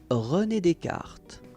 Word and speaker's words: René Descartes: René Descartes.